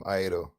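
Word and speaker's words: iaido: Is it pronounced Aido? Wait, how is it spelled? I-A-I-D-O. Oh, Aido.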